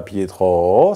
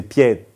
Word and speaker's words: Pietro: ça serait pierre et qu'en italien c'est pas Pierro c'est Pietro c'est-à-dire c'est une question d'accentuation et de rythme et mélanger à l'input